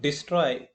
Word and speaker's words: destroy: In the word destroy D is untressed syllable stro is stress syllable.